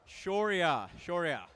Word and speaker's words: Shoria: How do you pronounce it? Shoria. That wasn't too bad.